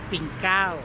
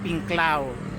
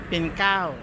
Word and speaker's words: Pinklao: Kung tawagin naman dito sa mga katutubo is Sapan Pinkaw. So ang bridge is Sapan. Ang pangalan ng lugar na to is Pinklaw. So Sapan Pinkaw. Ganyan. So ganyan ang pagkabigkas nila sa Pinklaw. Pinkaw.